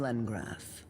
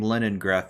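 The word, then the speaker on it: Lengrass: Archmage right I am Len grass and unless I'm mistaken you're the watcher of CAD Noah I've been pronouncing her name Leningrad this whole time I feel like a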